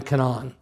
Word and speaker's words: Canaan: Sinai and they arrive in Cananan or Canaan depending on which way you want to pronounce it.